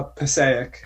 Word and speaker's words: Passaic: Leave it to a oh it's it's uh Passaic Passaic County yeah this legendary pathway passageway leads